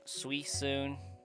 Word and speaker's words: Suicune: I love the debate behind the pronunciation of Suicune's name. You change profiles a lot. I expect no less. How do you pronounce Suicune, Sai? Oh. Apparently I've been doing encounters with Go setup. You pronounce it like how I just said it most of the time. Suicune, Suisoon, Suisoon, Suicine. That one actually makes no sense. I've heard Suisoon a lot.